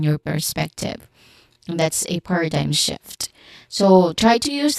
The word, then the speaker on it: paradigm: Pronunciation wise, paradigm. So, paradigm. First syllable is stressed here, par, which has a short ah sound, and then which is a schwa sound. Okay? Short, quick, and stressed vowel sound. And then dime, which is a diphthong sound, I.